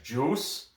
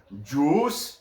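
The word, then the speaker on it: Juuse: they have uh soros in goal i think i still don't know how to pronounce his first name i think it's juice it's j-u-u-s-e juice juice sorrows oh it doesn't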